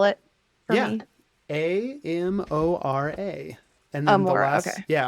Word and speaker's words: Amora: in uh right in that in can you spell it a m o r a and then the last yeah Amora and then